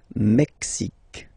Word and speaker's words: Mexique: Mexique. It's really the X. Huh? Le Mexique. And then remember this QUE, it's only K.